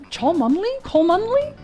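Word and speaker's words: Cholmondeley: England has some pretty oddly pronounced places like Cholandley. Chandley Chandley.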